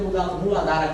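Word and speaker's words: Muladhara: do chakra básico ó a pronúncia dele é muladar chakra ele tem uma cor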